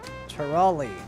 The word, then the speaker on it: Turali: Turali, that's how you say it.